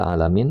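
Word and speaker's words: العالمين: Bifahatil lam dengan dibaca lamnya di fathah. Nah, nih diajarkan cara baca ya. Maksudnya cara baca yang benar bukan ee lamnya bukan dengan kasrah seperti itu. Jadi alamun alam eh alamin ya alamin ini kata Imam Ibnu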